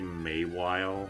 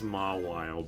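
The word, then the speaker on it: Mawile: Like, uh, I I say Maywe. I know it's Mw, but I've just said Mayweile as a kid, and it's just that's just how it is.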